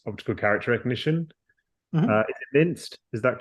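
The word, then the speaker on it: MNIST: Rod Prada is suggesting Mi how this is pronounced minced m n and it absolutely training data for a neural network for OCR so yeah I thought it was optical character recognition is it minced is that correct absolutely yeah this is correct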